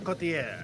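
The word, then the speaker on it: Couturier: Sean Coultier.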